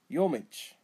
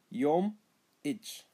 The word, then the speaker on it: Yomich: Yomich, windy. Yomich, remember, elongate the two M's, the two consonants. Yom itch.